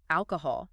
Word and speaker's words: alcohol: It is almost completely silent, and the o sounds are very soft. Alcohol.